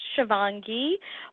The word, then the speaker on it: Shivangee: It's pronounced Shivangee, but I will probably respond to most things.